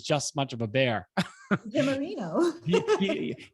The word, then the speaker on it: DiGiammarino: Jamarino. D Jamarino is like D and then jam, like peanut butter and jelly, and then Marino.